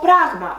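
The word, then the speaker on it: πράγμα: let's see the examples to pragma which means the thing the thing as a subject it has this accent on the second syllable of from the end and we can see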